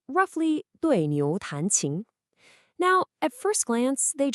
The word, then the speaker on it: 对牛弹琴: 对牛弹琴, pronounced roughly 对牛弹琴.